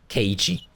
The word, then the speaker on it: Keiichi: Keiichi.